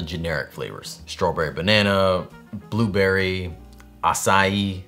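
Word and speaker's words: açaí: Strawberry banana, blueberry, acai. That word always gets me, how it's like almost as many syllables as it is letters. Either way, I'm fixing that leak on my roof when the next idea strikes.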